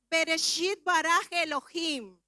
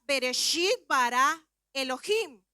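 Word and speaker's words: בראשית ברא אלהים: Su pronunciación sería Bereshit bara Elohim. En el idioma original, cuando decimos en el principio creó Dios, esa fracción de palabra en el hebreo se pronunciaría Bereshit bara Elohim.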